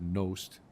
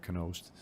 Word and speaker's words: Knost: They said Knost instead of Knost, but it still caught because I've been called that a lot of times.